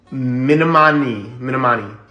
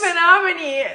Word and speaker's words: Menominee: Minamani. So close. Are you serious? Menominee.